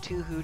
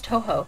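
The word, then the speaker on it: 東方: he really, really liked Tuhu to the point of moving to Japan. Because, oh my god. It's Tuhu? I thought it was Toho.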